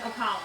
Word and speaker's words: Ocala: Ocala.